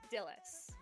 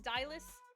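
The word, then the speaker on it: Dylas: Because I thought it was like the name Silus.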